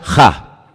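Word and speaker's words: הַ: el artículo en hebreo solamente hay un artículo no hay el no hay la hay uno solo se pronuncia ja solamente hay uno así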